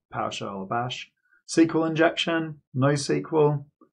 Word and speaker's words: SQL: like PowerShell or Bash, SQL injection, NoSQL. So I pronounce it SQL, but you might also hear SQL. You know, just different ways of pronouncing it.